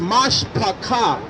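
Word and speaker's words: משפחה: All right, if you know how to say the word family in Hebrew, the word family, which is the same as my Facebook, family is Mashpacha, M-A-S-H-P-A-C-H.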